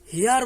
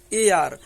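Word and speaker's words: heir: হয়েছে এইচ দিয়ে আর একে আমরা উচ্চারণ কিন্তু হেয়ার বলি না এই উচ্চারণটাকে আমরা বলি এ আর এই উচ্চারণটাকে আমরা কি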